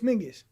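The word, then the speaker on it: Menzies: The zed is Oh, Menses. Yeah. Yeah. Yeah. Yeah. Some people pronounce it Ming. Well, it's Mingis. Yeah. It's like um there's a defunct letter or something.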